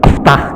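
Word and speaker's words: اِفْتَحْ: Bacanya iftah gitu, bacanya atkur gitu ya. Enggak bisa. Kalau huruf setelah huruf mad itu dibaca kasrah atau fathah, hambianya harus dibaca kasroh. Iftah, e iksir.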